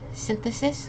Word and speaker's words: synthesis: that second last word synthesis which is like the formation of something so this Y is making like an i sound and we're again emphasizing on that first syllable okay okay last one